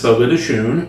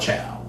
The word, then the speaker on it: Fogo de Chão: A few blocks away, there's Fogo de Chão.